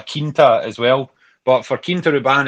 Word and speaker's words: Quinta Ruban: At Quinta Ruban seems to be Quinta Ruban. Is that right? Quinta. So it's like a Portuguese word. So in France you have a chateau or a clos, and that's where you make wine.